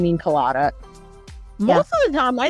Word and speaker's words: Kalaida: My name's Kalaida. Yeah. You will say all three syllables.